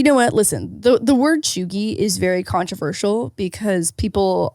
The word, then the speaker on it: cheugy: According to the New York Times, cheugy, pronounced cheugy, can be used broadly to describe someone who is out of date or trying too hard.